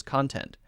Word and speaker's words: content: your content okay so the difference there for pronunciation is that we're stressing syllable 1 ah ah ah ok